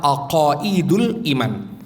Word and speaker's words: Aqaidul Iman: Judulnya itu masih dalam bahasa Jawa, Aqaid spasi Dul Iman. Bacanya adalah Aqaidul Iman.